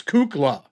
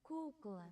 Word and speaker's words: Kukla: I wasn't saying cuckoo. It's Kukla. I didn't say a U, extra U.